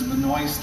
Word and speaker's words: Benoist: this is a 1913 benois I know it says Benoist on there but uh it's pronounced benois this was built in